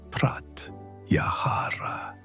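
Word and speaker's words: pratyāhāra: One of the most profound was Pratyahara pronounced Praty Yahara which is often translated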